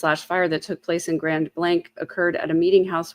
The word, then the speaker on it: Grand Blanc: way, that it's um, the way to pronounce the town name is Grand Blank.